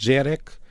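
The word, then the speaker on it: gyerek: Depois temos o húngaro em que a criança é eh começa com um G e um Y, que eu acho que se lê algo como J. Portanto, Jerek é criança e o Hungar também é uma língua muito distante do português.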